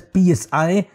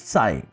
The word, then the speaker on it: psi: It's pronounced as psi and the p is silent, so it's psi.